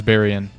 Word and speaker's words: Baryon: Okay, so I looked it up and it is Baryon.